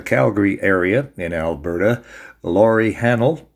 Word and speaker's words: Hahnel: I'm Dennis, and with me today we have from the Calgary area in Alberta, Laurie Hahnel. It rhymes with panel, and we're talking about Flicker, her latest novel, along with all sorts of other subjects.